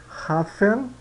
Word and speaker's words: Hafen: hof né Eh Puerto hafen hafen no começo da palavra alemão o h ele é gutural né é pronunciado que nem eh no inglês verbo eh R por exemplo metro uban uban Parque par